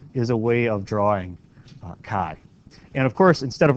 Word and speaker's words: chi: is that t NOP it's Kai okay it's Greek it's Kai and one of the